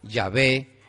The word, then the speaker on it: Yahvé: ¿Y por qué nosotros decimos que es Yahvé y no Jehová?